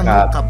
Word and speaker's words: Mukaab: Oke. Bacanya Mukab.